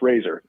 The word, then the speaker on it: RZR: the Revolutionary series now do you pronounce it Razer RZR how do you pronounce it that's a great question yeah it's pronounced it's pronounced Razer and it's spelled r yeah it's spelled RZR